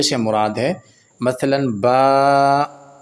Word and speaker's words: با: سے مراد ہے مثلا با، تا، ثا، یہ عربی لہجہ ہے، اس انداز سے قرآن پاک کو، پورے مدنی قاعدے کو بھی اس انداز سے پڑھا جائے گا۔ بے، تے، سے، ہے، یہ اردو تلفظ ہے، یہ اردو طریقہ کار